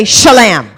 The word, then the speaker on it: shalom: Let's all say shalom. 이렇게 말합시다. 샬람 합시다. It rhymes with bam.